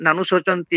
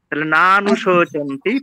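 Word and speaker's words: নানুশোচন্তি: অসচ প্রজঞবাদভাস গতা নানুচন্ত এটা আপনি নাটা একটু খুব দ্রুত করলেন নানুচন্তি এরকম বললেন কানে লাগল নানু নাটা এটা দীর্ঘ সত্য নানুচন্তি পতাহ নানানুচন্তি অনুসন্তি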